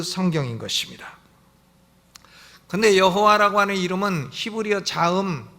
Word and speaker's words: 여호와: 아도나이 이렇게 바꿔서 있습니다 그러니깐 맛소라 파가 어여 여호와라는 자음의 다가 모음을 찍을 때에 어떻게 찍나 아도나이 에 모음을 갔다가 찍은 거에요 그래가지고 그 발음이 여호와 이렇게 된 것입니다 여호와 우리 성경에는 여호와